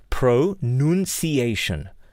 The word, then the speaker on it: pronunciation: now here's a correction a lot of people say pronunciation right it is accepted but it is wrong ok it is pro none see Asian your pronunciation let us